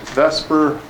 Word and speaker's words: VSEPR: thing you're probably wondering is why is VSEPR pronounced Vesper as you try to pronounce it the way